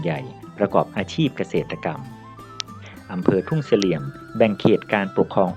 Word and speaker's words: ทุ่งเสลี่ยม: สู่ อารยธรรม ล้าน นา ทุ่งเสลี่ยม คน พื้น บ้าน ออก เสียง ว่า โต้ง เสลี่ยม ที่ เป็น ภาษา ล้าน นา หมาย ถึง ทุ่งสะเดา อ.เมือง